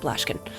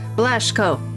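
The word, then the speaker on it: Blaschko: No, not Blashkin. Uh God, it's a German last name, so trying to pronounce it. My brain is Give me a sec. Uh human stripes. There we go. Blashco. There we go. That was the word.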